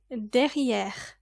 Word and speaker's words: derrière: You probably already know this word and it is der. Make sure you pronounce it with the French accent and don't say as der. Let's say it together. It's got that little in the middle.